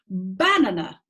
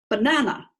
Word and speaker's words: banana: you can hear it if it were syllable number one the word would be banana I'm going to eat a yellow banana sounds a bit weird doesn't it alright let's